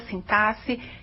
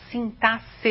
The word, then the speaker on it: sintaxe: vocês uma parte da sintaxe e assim mesmo que se pronuncia sintasse e não sintaxe como alguns querem não é então a